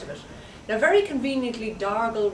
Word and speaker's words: Dargle: it now very conveniently darle rhymes with gargle so it naturally evolved